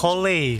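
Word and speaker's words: Collei: Kole, sebutannya Kole.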